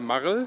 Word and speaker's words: Marl: Marl?